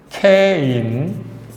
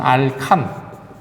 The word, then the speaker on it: 알케인: 물론 다른 책에서 옛날식 표현으로는 이것은 알칸, 알켄, 알킨 이런 식으로 발음했었습니다. 옛날에는. 근데 요즘에는 원어 발음을 존중한다 그래서 알킨이 아니라 알카인, 알칸이 아니라 알케인, 요것만 알켄 그대로 씁니다.